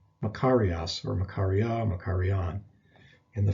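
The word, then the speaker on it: μακάριος: a term that's used quite a bit it's pronounced makarias makarias or makaria makarian in the feminine and neuter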